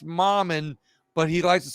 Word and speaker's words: Mammen: my Louisiana friends you know his name is pronounced mom and but he likes to say Mom and them